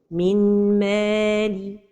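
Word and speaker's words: مِن مَّالِهِ: The first mistake is to pronounce it without a time for the ghunnah. Min mali. Another mistake is to pronounce it noon. Min mali. So the right pronunciation is min mali.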